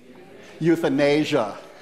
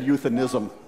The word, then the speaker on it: euthanasia: You're on the right track, but you mispronounced it. You want to try? What's the answer, anyone? Euthanasia. You said euthanism.